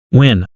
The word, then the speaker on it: Nguyen: She took care of any awkwardness by introducing herself first and said it's pronounced when.